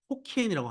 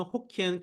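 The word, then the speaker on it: Hokkien: 그리고 이 단어의 만다린, 그러니까 지금의 중국 보통어의 발음으로는 후젠, 광동, 저쪽 커지아, 하이난이지만 그들의 방언으로는 호키엔, 캔터니즈, 떼오추, 하카인 거예요.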